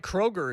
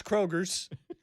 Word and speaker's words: Kroger: Kroger, you think of 2 things. The store Grocery store that people mispronounce Kroger's. with an S.